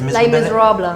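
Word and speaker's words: Les Misérables: So you appeared in the West End productions such as how do you pronounce it? Les Les Miserables. Innit? Wow. Lay.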